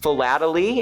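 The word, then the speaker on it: philately: Fatally is how it's said.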